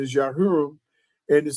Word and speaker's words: Jehoram: Yah Hiram, King Yah Hiram or you call him King Jehoram. But the the correct pronunciation is Yah Hiram.